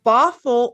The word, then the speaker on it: Bothell: They're residents of Bothell, Washington. Did I pronounce that correctly?